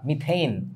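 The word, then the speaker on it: methane: সো ঘটনা হচ্ছে এটার উচ্চারণটা কিন্তু মিথেন না, মিথেইন।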